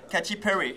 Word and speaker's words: Katy Perry: Voilà, qui se prononce connaît. À l'américaine. Katy Perry.